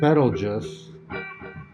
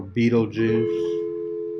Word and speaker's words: Betelgeuse: For example, when I look at Betelgeuse, or Betelgeuse, or Betelgeuse, there's different ways to pronounce it.